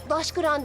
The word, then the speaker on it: Taşgan: yazmak da mühimdir daşgan mı Hayda daşgan diye okunur taşgan diye yazılı Durmuş etiketli şiv istemeyin